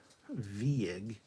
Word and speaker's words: Vieg: General Grievous, phonetically Vieg. It's German, isn't it? Vieg. Nick Vieg.